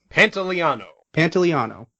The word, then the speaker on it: Pantoliano: Pantoliano.